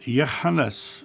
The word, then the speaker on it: Yohannes: Joshua called him Hannah, and Yohannes is the original pronunciation, but he called him Hannah, with a phlegmy H in the beginning.